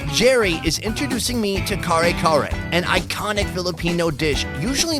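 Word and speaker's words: kare-kare: Kare kare? Can you tell it again? Kare kare.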